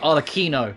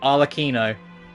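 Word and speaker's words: Arlecchino: here lady arlikino herself included that's how you pronounce it all Aquino I've been saying all the shadow because there's a CH that's it and that's how you pronounce it all Aquino I was about this Italian so I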